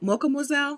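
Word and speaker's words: Mocha Moizelle: uh clarice who is mocha moiselle mocha mozelle like mademoiselle but mocha m-o-c-h-a-m-o-i-z-e-l-l-e i'm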